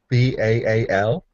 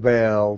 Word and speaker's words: Baal: So your relationship with Yahweh, and is it pronounced Baal? B-A-A-L?